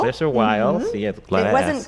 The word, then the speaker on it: Glaser Weil: law firms like, let's pronounce these correctly, like Glaser Weil. Is that how you pronounce it? Glaser Weil. Glaser Weil.